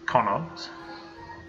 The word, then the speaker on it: Connacht: Apparently it's pronounced Connacht.